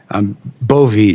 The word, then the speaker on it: Bove: It's Bove, right? Bovee, Senator, like Bove, with a long I E.